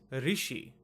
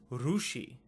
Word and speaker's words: Rishi: R.S.I is pronounced as Rishi.